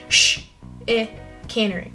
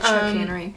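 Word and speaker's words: chicanery: tricky tricky to pronounce the beginning CH sound is sh as in Chicago so sh caning so shering instead of CH caning yeah I think it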